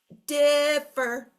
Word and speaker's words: differ: So what I teach our students to do is call it for dinner. Differ, come for dinner, differ. You can really clearly hear the accent is in the first syllable, not the second syllable.